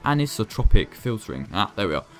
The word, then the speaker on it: anisotropic: blur strength keep motion blur or hate it anastropic filtering and the i can never pronounce this right anisotropic filtering ah there we are times 16 that